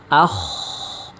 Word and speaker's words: خ: Bentuk suaranya seperti ini. Akh. Akho. Akho ko khi khu khu akh ikh ukh. Bahkan saat ketika berharakat sukun maka huruf k diucapkan dengan suara yang tebal. Maahu akhladah. Maahu akhladah. Jadi tidak ada suara yang seperti mendengkur akh akh.